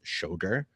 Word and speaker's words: Schoger: up a lot um this is how you pronounce my name it's shogur and uh sorry um